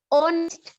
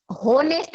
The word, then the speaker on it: honest: एक होता है ऑनेस्ट, HONEST, जिसे आप होनेस्ट बोलते हो। वो होनेस्ट होता है, साइलेंट होता है, तो ओ से स्टार्ट हो रहा है। मैं आपको बता रही थी ऑनेस्ट, ऑनेस्ट वर्ड में एच जो होता है वो साइलेंट होता है, ठीक है, उसे ऑनेस्ट बोलते हैं, इसलिए इसके आगे भी हम एन लगाते हैं।